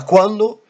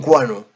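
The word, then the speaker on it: quanno: Donc, là, quando, ça devient quano.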